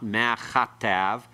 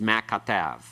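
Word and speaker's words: מַה כָּתַב: It's not ma chatav. It's not a aspirated form of the kaf. It's a hard form. It's ma katav. All right? Ma katav. It's pronounced as one word. The accent is on tav. Last syllable here.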